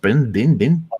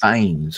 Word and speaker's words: Bynes: Bynes? Bin? Bynes, yes. Bynes. All right. Then now, I think I actually can pronounce the rest of them here.